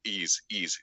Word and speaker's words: Ys: It's just the letter Y. YS. Okay, like saying E's, and it's like, well, what is that?